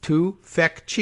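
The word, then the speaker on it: Tufekci: silent until zeynep tufetsky oh look a pronunciation guide pronounced zainab yeah we got that to feck chi yeah all right excellent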